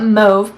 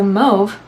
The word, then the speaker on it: mauve: I call it mauve because the AU sound in French is that like O sound. Like you say the word taupe, you don't say, how do they pronounce mauve? Top? You don't say top. So mauve.